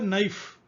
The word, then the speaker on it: knife: Then 28, na, fa, knife. So k is silent.